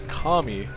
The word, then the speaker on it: Kami: be kami who have been saying his uh name wrong this entire time is not cami it is kami the teal zerg and